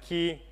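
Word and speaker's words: Quay: a thing called Kwai dot IO it's called Kwai cuz that's how we pronounce it a lot of people may pronounce it ki I'm sorry we we've looked it up in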